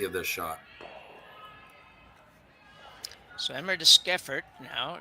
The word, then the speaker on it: Deschiffart: So Emma Deschiffart now, Skiffert, I think is how we figured out we pronounce this.